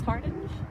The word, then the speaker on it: Hardinge: I don't know if you have translated in Denmark, Frances Hardinge. I think it's Harding, actually. It's spelled Harding.